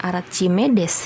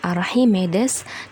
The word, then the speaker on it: Archimedes: yang kedua tekanan archimides bukan Archimedes ya tapi dibacanya archimides dan hukum Pascal gitu